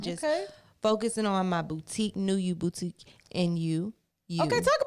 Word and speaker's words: NUU: So it's New You, but it's just spelled differently. NUU.